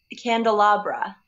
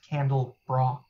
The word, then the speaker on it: candelabra: Candelabra. It's pronounced candle bra. No, it's not. It's like a, little bra for candles?